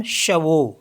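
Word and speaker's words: chevaux: एक्स तो यह पढ इसको पढ़ते हैं हम शवो शवो मीस होता है हॉर्सेज नेक्स्ट वर्ड है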